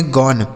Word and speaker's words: gone: तो जी से हो जाता है गौ, ओ का उच्चारण अ हो गया, NE से न, इसे पढ़ेंगे गौन।